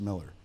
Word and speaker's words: Millar: I want to give him the Millar Because it sounds the like AR. UK. But because it has an AR, but it's pronounced Miller.